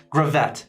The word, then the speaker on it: Gravette: how I remind myself it's grab it grab that not Gravette so I don't know if that's a minor detail but that's how I know to be pronounced is Gravette not Gravette does anyone care I